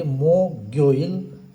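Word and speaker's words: 목요일: त्यसैगरी बुधबारलाई सुयोइल भनिन्छ बिहिबारलाई यो मोकमा मुनिको जुन ग झुन्डिएको छ त्यो माथि जाने गर्दछ र यसलाई उच्चारण गर्दा खेरि मोगोइल भनेर उच्चारण गर्ने गर्दछ।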